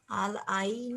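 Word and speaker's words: العين: হ্যাঁ, তাহলে এটার উচ্চারণ কি হচ্ছে? উম, আল আল আইন, আল আল আ আল আইনু, ইয়ার উপরে যেহেতু সাকুন আছে সেহেতু ওখানে ইয়াটা রস হয়ে যাবে।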